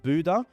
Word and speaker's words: Bodø: One-way to Reykjavik in Iceland, then one-way from um Reykjavik to Oslo, from Oslo to Bodø or I think it's pronounced Budø, and then from Budø to Svolvær, which is in the Lofoten Islands.